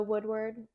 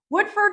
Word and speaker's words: Woodford: vodka yeah whiskey sometimes I like um the Woodward oh wood yeah is that how you say it Woodward Woodford Reserve right here not a whiskey girl yeah